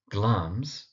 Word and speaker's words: Glamis: We have, of course, got Glamis, that's Glamis, and we have Corda, that's Corda. Now, Glamis, because it's spelt with an I, is sometimes mispronounced as Glamis.